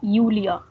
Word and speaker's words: Julia: So in German, mostly whenever any name starts with J, we pronounce it as Y. So we won't be calling her Julia, but we would be calling her Julia.